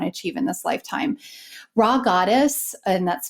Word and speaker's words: Rha Goddess: Raw Goddess, and that's spelled RHA Goddess, recently published a book called The Calling.